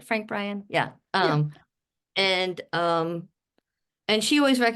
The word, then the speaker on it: Frank Bryan: Frank Bryan?